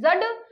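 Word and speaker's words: dzud: रखिएगा फिर मंगोलिया में जड आपातकाल किससे संबंधित है ये आपका जो डी है ये आपका साइलेंट है जड और कहीं-कहीं पे जड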